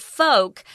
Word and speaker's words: folk: when you talk about folk notice I'm not pronouncing the owl I'm not saying fault we have quite a few words like this like yolk poke polka-dots there's no L in it poke folk yolk folk refers